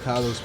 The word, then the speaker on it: Kalos: It's pronounced Kalos.